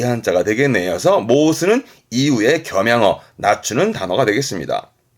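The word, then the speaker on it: 申す: 이게 발음이 모스, 모스.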